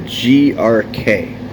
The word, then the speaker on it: Grok: First things first, the correct pronunciation of Grok is more like a GRK.